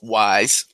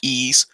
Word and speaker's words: Ys: limited edition of ease contrary to popular believe that it's not pronounced wise this is es origin and this is